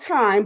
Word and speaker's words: Time: Um, uh, cinematographer Tim, you know, spelled time, but it's pronounced Tim.